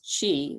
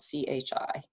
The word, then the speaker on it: qi: if you break it down the word is qi which is spelled q-i or maybe spelled c-h-i um and then gong g-o-n-g so the chi